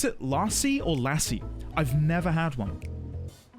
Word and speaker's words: lassi: Do you pronounce it lassi or lassie? I've never had one. Never had one. It's creamy, isn't it? Milky, right? Lassie. Long a lassi. Lassie. Lassie. Lassie. You pronounce it lassi.